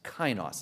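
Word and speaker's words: καινός: more time k a i n o s kinos is how you pronounce it you know what it means never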